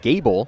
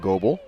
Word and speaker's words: Gable: Jackson Gable, not Goebel.